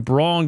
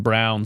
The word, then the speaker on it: Braun: Christian Braun goes right at Paul George at the rim and gets two. Christian Brown, sorry. Name spelled Braun, pronounced Brown for some reason.